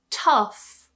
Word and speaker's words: tough: In some cases towards the end of a word, gh is actually pronounced as f. So, we looked at words where gh is silent altogether at the end of words. And now we're going to look at a few where gh is pronounced as f. For example, tough. Tough. Enough. Enough.